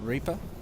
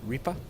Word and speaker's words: Ripper: People can pronounce it the way they want. I call it Reaper, some people call it Ripper, whatever.